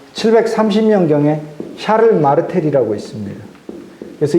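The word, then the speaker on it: Charles: 그래서 아까 클로비스를 통해서 496년 이렇게 내려오던 그 왕의 가문이 끝나버리고 샤를은 이제 독일말로 카를이거든요. 이게 불어말로 샤를이고 독일식 발음으로 카를이니까 이 샤를 즉 카를 왕조가 새로 시작해요.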